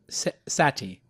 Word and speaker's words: Sethi: on me talking to you some people say Sethi it's pronounced sati sathi yeah yeah and he is a